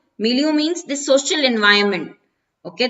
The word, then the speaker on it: milieu: now this word also has a very different pronunciation milieu milieu means the social environment okay that you live